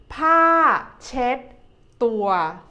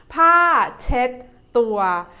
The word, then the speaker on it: ผ้าเช็ดตัว: in Thai we say ผ้าเช็ดตัว ผ้าเช็ดตัว ผ้า is a falling tone. เช็ด the second syllable is like when you say check in English, but you change the K sound into a D sound.